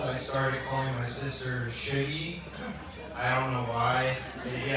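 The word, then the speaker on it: Sugie: For those of you keeping score, that's spelled S-U-G-I-E, Shuggy, or Should Night if you need.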